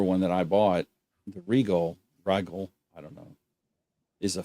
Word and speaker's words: Rigol: I might be pronouncing that wrong. Siglent. Yep, Siglent. And Rigol, RIGOL.